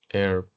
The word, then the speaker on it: herb: In this case, we have the eight sounds that is silent. Yeah, it's silent, no sound. For example, hour, hour, hour, honest, honest, herb, herb, herb, air, air, air, honor, honor, honor. Yeah, no sound.